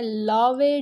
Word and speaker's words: Laue: हैं लावे diffraction pattern, LAUE, लावे साइंटिस्ट का नाम था, उसके नेम की वजह से कहा जाता है इसको लावे। आप लोग प्रोनाउंस करना चाहते हैं किसी और वे में तो कर सकते हैं।